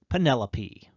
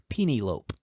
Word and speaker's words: Penelope: ulysses in homer's odyssey it was penelope or as a friend of mine mistakenly pronounced penielope how many letters are